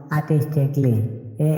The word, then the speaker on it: artistically: যদি কোনো ওয়ার্ডের শেষে CALLY থাকে তাহলে সি এর পরে এই লেটারটি সাইলেন্ট থাকবে, যেমন আর্টিস্টিকলি ARTISTICALLY আর্টিস্টিকলি মানে শৈল্পিকভাবে, CRITICALLY ক্রিটিকলি মানে সমালোচনামূলকভাবে।